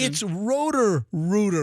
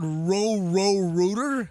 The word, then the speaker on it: Rooter: It's Rooter. It's not row Rooter.